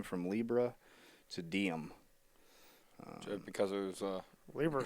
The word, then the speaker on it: Diem: organizes it will now go by the monkier diem is how you say it reflects the project's